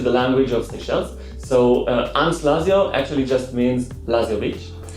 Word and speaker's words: Anse Lazio: Did I say it correctly? Yes, Anse Lazio.